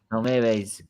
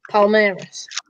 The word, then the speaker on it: Palmeiras: Palmeiras, versatile young star. Oh, you might want to Is talk that- about this. that's how you pronounce it, Marley. Palmeiras.